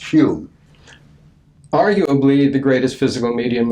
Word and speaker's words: Home: Doug dunglas home or who would be pronounced spelled h o m pronounced hum arguably the greatest physical